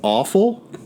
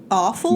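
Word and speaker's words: offal: feel feel me no I'm it it's it's awful awful not awful right like you gives me with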